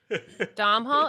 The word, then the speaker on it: Domhnall: Dom Hall, isn't it Dom Oh, Hall? yes, Domhnall yes.